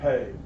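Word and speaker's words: Peay: is that it's owned by a guy named amir pay and some people pronounce it p but it's actually pay and emer owns it and he's a descendant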